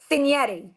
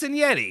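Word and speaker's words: Cignetti: Uh did how do you pronounce the Indiana football coach's name? Senetti.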